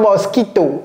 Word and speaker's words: mosquito: No, this is not mosquito. Okay. What is it, Cody? Please. Mosquito. Once again, mosquito. Once again, mosquito. And you see how he's pronouncing the O here? M-m mo.